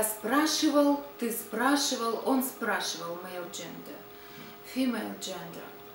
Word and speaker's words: спрашивало: Он спрашивал, она спрашивала, оно спрашивало, они спрашивали. By the way, about the neuter gender, the ending O, спрашивало, but we don't pronounce it so clear, спрашивало. We usually say the kind of neutral.